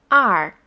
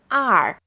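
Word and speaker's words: 二: ling one is yi two is are the fourth stone are three is sun first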